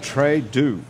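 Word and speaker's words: Très Doux: So Trudeau. Actually, that's pronounced.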